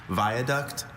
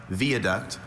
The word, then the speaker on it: viaduct: I have two pronunciations, viaduct, viaduct.